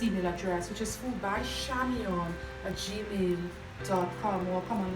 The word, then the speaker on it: Chamion: coming across this Z my first name name is spelled c h a m i o n it is pronounced shamon right um we are all